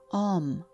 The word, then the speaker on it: Om: A sacred sound can slow down your mind and it is pronounced om, but it is often referred to as.